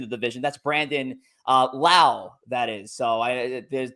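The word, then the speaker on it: Lowe: well Brandon Brandon well baseball references Brandon L rhymes with now so just just just for for reference see uh but Brandon laau here uh finished third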